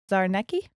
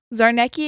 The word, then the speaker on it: Czarnecki: say his name casimir's zarnecki sure he's polish so it's it's a lot of z's that i know aren't like c's and z's and i'm like those c's you don't pronounce um and they worked